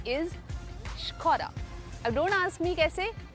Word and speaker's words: Škoda: And it is not a Skoda. It's not a Skoda. It is a Škoda. SKODA is Škoda.